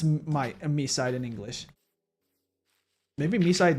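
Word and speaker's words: MiSide: Even though we found out that it's pronounced me side according to the English dub of the game.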